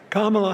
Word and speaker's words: Kamala: Kamala Harris for the people. Did you know that they give Kamala, like comma, la?